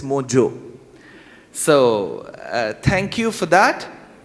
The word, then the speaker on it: Mojo: But the good part about Mojo is, unlike most other words start with J and O, should not be pronounced as Joe, it's Ho, it's San Jose. But Mohit Joshi has made Indians proud by making us pronounce the way it is, it's Mojo.